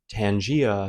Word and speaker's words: Tangier: And then interestingly, I didn't share this story before, but when I was in Tangier slash Tanger slash Tangier, because I learned that it's pronounced differently in like every culture, even in